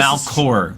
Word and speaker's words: Malachor: I'm gonna say, Malachor, can you hear me? That's too many syllables, man. What? All right. Here's It's here's Malcor. There's no extra. Never mind. What? Malachor.